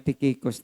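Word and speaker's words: Tychicus: ay si tikicus no although ang spelling niya is ty y c h i c s ang tamang pronunciation po ay tikikicos na tagaepeso kung saan dito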